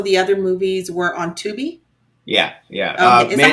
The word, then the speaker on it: Tubi: I rented this one, but also the other movies were on Tubi. Yeah. Okay. Is that how you pronounce it?